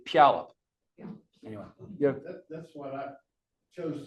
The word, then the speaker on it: Puyallup: I heard there's some people who kind of make the first syllable as if the U is gone and there's an apostrophe, like Puyallup. Anybody ever heard that? Like the Heward family, the famous football family from Puyallup. They say Puyallup.